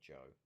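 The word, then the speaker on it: Zhou: joe as it's well they pronounced it joe on the broadcast so i'm just going to say joe ying yang the little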